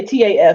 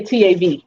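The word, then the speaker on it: ת: they say top here they say taf i would say tav tov um so this is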